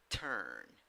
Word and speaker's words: turn: It has 4 letters and 4 sounds. When you write it with a U, but when you pronounce it with a schwa. Turn, turn.